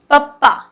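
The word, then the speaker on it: ਪੱਪਾ: सो देखिए पी ए P double A, पप्पा।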